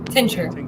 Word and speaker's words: tincture: Tincture. Yeah, tincture. Tincture? Yeah. The Yeah, C's not... it was Yeah, the C is, like, there, but it's silent, too, at the same time.